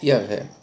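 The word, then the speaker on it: Yahweh: tradução do hebraico do tetragrama e o rei que se pronuncia yavé Então vamos lá meus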